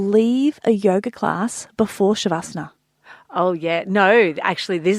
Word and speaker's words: Shavasana: So my favourite part of yoga is the shavasana.